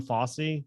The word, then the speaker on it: Fauci: I don't know if I should admit that or not, but actually we called him Fossey. That's the way we pronounced it as kids, not Fauci, but it's a consider him a great uncle to the Fauci.